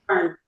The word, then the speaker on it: Byrne: Burns. Burns. Burns.